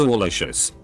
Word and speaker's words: Alicious: name legally changed to alicious pronounced like a combination of al and delicious apparently alicia's is from